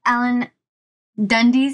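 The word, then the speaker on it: Dundes: So you said that Alan Dundees, is that how you pronounce his name? Yes. Dundees?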